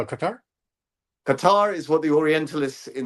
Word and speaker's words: Qatar: It's Qatar or Qatar. or gutter, depending on which part of that the Middle East you come from. But it's very guttural.